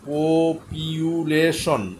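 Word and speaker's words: population: People জনগণ, এরপরে পপুলেশন, পপিউলেশন, উচ্চারণটা এইভাবে করবেন, পপিউলেশন হচ্ছে এও জনগণ, পপুলেশন হচ্ছে জনগণ।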